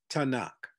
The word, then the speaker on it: Tanakh: 24 books in three different groups called the tanakh the t in tanak and that's spelled t-a-n-a-k-h the first five books are called